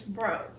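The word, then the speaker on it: Breaux: in my school was named Miss bro and it was spelled b-r-u or b-r-u-e-r-b-r-e-a-u-x okay so ho okay hotels got it oh I know oh okay it's a southern thing and I don't know it yeah it's a southern thing well it's actually kind of a French thing oh okay well yeah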